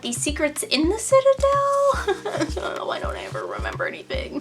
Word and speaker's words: Citadel: I was like Citadel it's it's Aly it's Citadel so thank you for anyone that told me how to pronounce it but it hit me long after